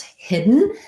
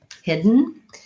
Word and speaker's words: hidden: to pronounce hidden hidden this is a good example of a syllabic and so I pretty much don't do very much of a vowel there I go right from my D to my end if there's any vowel it's just a little small schwa sound I have the e vowel and first syllable stress so hidden hidden trying to think about just going right from my D to my n hidden hidden I don't really